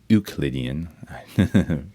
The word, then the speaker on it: Euclidean: We have Euclidean, proper pronunciation, named after the mathematician Euclid.